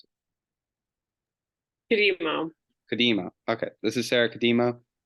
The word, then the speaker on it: Cudemo: Cudemo, how do you pronounce Cudemo. it? Cudemo.